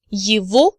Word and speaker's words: его: Now you remember from supplementary materials from previous lectures that G in the word его is actually pronounced as V.